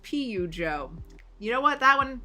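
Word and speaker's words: Peugeot: It's pronounced like Pidgeot, the Pokemon.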